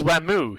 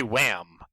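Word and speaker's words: Wamuu: But he says Wamu. He doesn't say Wham. Well, that's because in Japanese, they don't end on a hard syllable.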